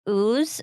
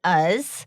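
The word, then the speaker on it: Uz: helpful because the town in Nebraska is spelled U-Z. And in my head, I was saying like ooze or like, I don't know what I was thinking, but it is us, which is a lot like Oz.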